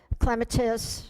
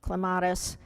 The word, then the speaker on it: clematis: We've got creepy crawly stuff, clematis, and some pronounce it clematis.